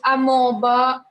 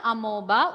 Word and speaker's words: amoeba: examples amoeba, bacteria. Not amoeba. O is silent. So we call it as, if O is silent, how do you read it? Amoeba.